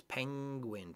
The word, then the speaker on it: penguin: N and the G is almost like the ing when you say like the ng and ing when you say jumping or reading it's penguin penguin so it's back in the back of your throat we don't separate the N and the G is that penguin penguin